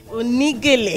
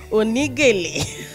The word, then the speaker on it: Oni Gele: I want to pronounce it like it really is. Oni Gele. Oni Gele. Yeah, exactly. Okay, I got it now. Oni Gele.